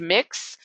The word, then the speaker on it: Mx: It's pronounced mix. It is MX, and it is in the Oxford English Dictionary.